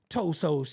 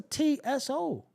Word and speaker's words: Tso: you get toe from it's just a TSO the te is silent you don't know that